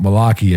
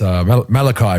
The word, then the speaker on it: Malaki: It's not Malaki, evidently. It's Malachi, bro. It's Malachi.